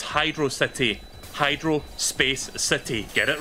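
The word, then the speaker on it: Hydrocity: this on stream before but like whenever somebody pronounced the hydrosity and I'm like no it's Hydro City Hydro Space City get it right not the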